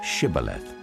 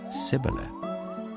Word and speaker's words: Shibboleth: If he replied no, they said, "All right, say Shibboleth." If he said Sibboleth, because he could not pronounce the word correctly, they seized him and killed him at the fords of the Jordan.